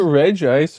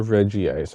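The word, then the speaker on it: Regice: And that takes Is it Reg ice or Reggie ice? I've always wondered and never answer. Yeah, there's only one ice. Yeah, there's no way you can pronounce Reggie ice. I think I guess that's true. Yeah, it would have to be Reggie hyphen ice.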